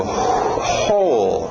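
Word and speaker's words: whole: d aí tired continuando ho né escrito w mais som só de um h h ho inclusive se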